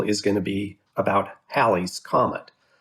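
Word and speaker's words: Halley's Comet: be about hallie's comet so if you're if you're inclined to pronounce it hayley's comet it's because you're confusing hallie the historical figure with haley in the comets a nice 1950s 1960s early rock group so if we were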